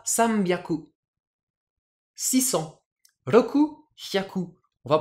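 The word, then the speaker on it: さんびゃく: milieu de tout ça par exemple 300 San plus shaku on va prononcer ça samambiaku 600 rokuaku on va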